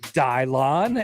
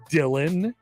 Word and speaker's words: Dylan: Andy wonders on our YouTube stream, why is it Dylon and not the normal pronunciation of Dylan? Oh, Andy, have I got a story for you? Andy, just a bit. His name is Dylan. We call him Dylon, and it's affectionate.